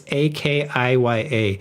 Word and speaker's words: akiya: These properties known as IKEA, I like saying IKEA, it's IKEA. I don't know how to say it. Maybe it's IKEA. Somebody correct me. I don't think it's even that. It's AKIYA, have captured international headlines for